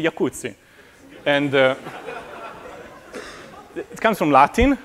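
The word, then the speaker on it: Jacuzzi: The J is actually a Y. So it's a Yakutsi.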